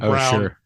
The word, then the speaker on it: Browne: called Silent E Productions, because both Soule and Brown have a silent E at the end there, which I think is very good and clever.